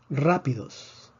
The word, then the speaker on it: rápidos: el acento de excepción rápidos rápidos rápidos tiene tres sílabas termina en s predecimos que la fuerza debería estar en la penúltima sílaba no está en la penúltima sílaba escribimos el acento de excepción rapidez y rapidez rapidez